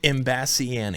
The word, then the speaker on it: Imbasciani: How do you pronounce it? Imbasciani.